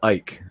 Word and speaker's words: Icke: I think it's pronounced Ike.